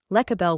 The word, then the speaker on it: Lecabel: Lecabel whispers, "You are not just building the plan, you are becoming the foundation." Cosmic ID Card. Name: Lecabel, pronounced Lecabel.